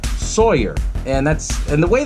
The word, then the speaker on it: Sawyer: ends up being Drayton Sawyer the name Sawyer I love this name because a lot of people will easily remember it's a play on the words it's a play on saw her Sawyer and that's and the